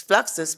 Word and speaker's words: Fluxus: fluxus and he said it's fluxus because it rhymes with foxes yes yes that's right